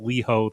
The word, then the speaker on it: Leho: Also, my name is pronounced Leho the lion. Lol. Uh, love you guys. Can't wait to listen in. So, well, thank you very very much for that, Leho.